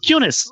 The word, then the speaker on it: Cunis: particular bowler by name bob kunis he played for new zealand and uh i i mean cunis it's spelt c-u-n-i-e-s and the famous british